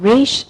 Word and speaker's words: rapidly involuting: En verdad se pronuncian como Riche, Niche and Piche y se le da ese French kind of pronunciation porque un francés lo dijo y sonaba cool.